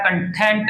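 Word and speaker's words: content: गया है ठीक है इसका जो उच्चारण होता है इसके अंदर जो स्ट्रेस लगता है वो यहां पे लगता है कंटेंट ऐसे बोलता है और जो वो वाला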